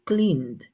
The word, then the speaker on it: cleaned: Cleaned, termina en el sonido en la N, cleaned. Entonces vamos a buscar aquí cómo sería la pronunciación. Termina en cleaned, el sonido, entonces es en D el pasado.